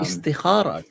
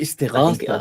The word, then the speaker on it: Istighatha: Istikhara to Jesus. What does that mean? Istighatha. I mean, I know we. Istighatha, Oh, I istighatha think it's Istighatha. Yeah, to I said it wrong.